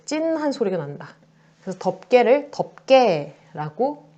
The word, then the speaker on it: 덮개: 그래서 덮개를 덮개라고 발음을 한다라는 거야.